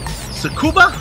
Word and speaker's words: Tsukuba: Joe am I getting this right is it Tsukuba the sex forget you got it all right don't pronounce the teeth you know this being the